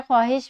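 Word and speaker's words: خواہش: जैसे कि खे के बाद वाव आ जाए तो बहुत सारे अल्फाज में वाव साइलेंट हो जाता है। इसमें ख्वाब है, ख्वाहिश में भी ख्वाहिश को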